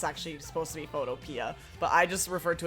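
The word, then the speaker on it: Photopea: browser Photoshop called um I think it's pronounced photoia, but I called it photo pe like as in like pee the vegetable cuz that's how it's spelled.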